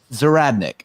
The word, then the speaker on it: Zahradnik: i say your last name right is it zeratnik right thank you lou thank you what did